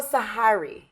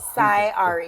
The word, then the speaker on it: Sy Ari: You almost said it right. You had like the Sy Ari. Queethins in it. So Sy Ari. Yeah. Sy Ari. I like that. That's Which perfect. one? Tell me. No, you said it right. The Sy second. Ari. The second one without Sy the Ari. H. You put a little H into it. Sy Ari. Yeah, separated. Okay.